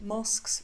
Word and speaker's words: mosque: Just after sunset, mosques fill with worshippers.